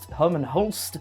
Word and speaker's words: Hermen Hulst: title so Herman Hol Herman Holst mhm that is the correct pronunciation Herman Hol is is